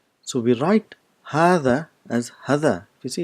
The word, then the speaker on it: هذا: this letter there is you have to bring in your tip of your tongue just in front of the teeth in or do it's